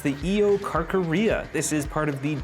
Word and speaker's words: Eocarcharia: This first one, I believe, is pronounced the Eocarcharia.